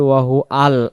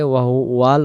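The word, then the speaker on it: وهو العلي: আমরা বাক্যগুলো ভুল করি আমরা যদি পড়ি ওয়াহু আল আল যদি পড়ি এখানে ও ভুল হয়ে যাবে ওয়াহুয়াল উচ্চারণ হবে ওয়াহুয়াল ওয়াহুয়াল আলিউল আলিউল হবে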